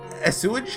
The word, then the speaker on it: assuage: But that wasn't after assuage her?